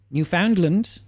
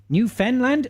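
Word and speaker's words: Newfoundland: New Foundland it was new fenland oh come on now come on now Finn fun or Fen what is it you don't really pronounce the last D sha hi honey um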